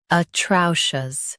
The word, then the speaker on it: atrocious: Atrocious. Both US and UK have the same pronunciation of this word. Stress trow. Keep shus soft and clear.